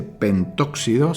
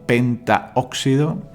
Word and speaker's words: pentaóxido: No se dice pentóxido, sino pentaóxido de dinitrógeno.